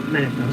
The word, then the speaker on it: Munafo: Yeah, Munafo.